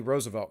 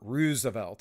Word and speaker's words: Roosevelt: all uh until old teddy roosevelt came along or roosevelt as it's supposed to be pronounced but we all say it the wrong way so whatever old teddy